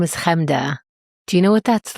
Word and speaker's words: Chemda: Chamada, Churnda, Chemda, I understand. I said that already.